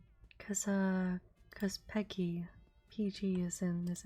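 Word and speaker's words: PEGI: Peggy?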